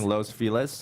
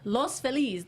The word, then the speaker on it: Los Feliz: right here not anyway your lows Feliz its Los Feliz that's how you say it but Anglo Phyllis